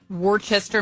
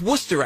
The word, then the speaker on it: Worcester: Uh, Worchester, Massachusetts. Wor Worcester. That's Worcester, actually.